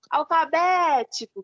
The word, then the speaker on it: alfabético: a gente, tipo, gritasse, igual a palavra alfabético. Aí você falasse, alfabético, como se estivesse chamando, sabe? E realmente funciona, porque a sílaba que tem acento, você vai falar ela vai ser um pouco mais intensa.